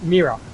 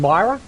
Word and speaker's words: Mira: the redress of dark mirror the redress redress got to get that pronounced right the red dress of my mirror I keep saying Myra but it's nearer the redness of mirror just been released today